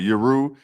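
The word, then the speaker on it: Yueru: Yuru.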